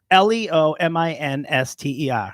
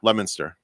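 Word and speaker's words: Leominster: she's getting close correct the correct way to pronounce it is lemon stuff lemonster but it's so funny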